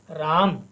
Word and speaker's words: राम: कहते हैं राम किंतु जब हम इसका संस्कृत में उच्चारण करते हैं तब हम इसको राम नहीं पढ़ेंगे बल्कि राम क्योंकि म यहां पर पूर्ण अक्षर है यहां पर हम म का पूरा उच्चारण करेंगे राम ऐसे ही कोई